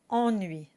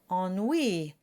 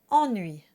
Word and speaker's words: ennui: The trick for getting the correct pronunciation is to imagine you're combining 2 words, en and nuit that we just saw a minute ago. Ennui, ennui.